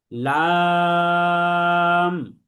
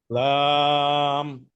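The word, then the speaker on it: لام: তাহলে আমার সাথে সাথে সবাই বলেন লাম। লাম।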